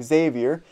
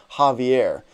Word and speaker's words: Xavier: We named him Xavier. We still have to tell her family members not to pronounce his name Javier.